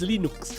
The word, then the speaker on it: Linux: Torvalds, and I pronounce Linux as Linux.